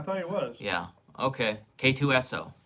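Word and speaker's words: K-2SO: K2 Urso. I thought so. Yeah. Yeah, I thought he was. Yeah. Okay. K2SO, not Urso. K2SO.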